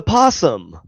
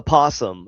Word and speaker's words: opossum: No, because you No, because the O is silent. It's a possum. An opossum. No, it's not an opossum. A possum.